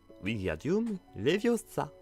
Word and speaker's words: Wingardium Leviosa: vous tournez votre baguette et vous abaissez tout en disant Wingardium Leviosa.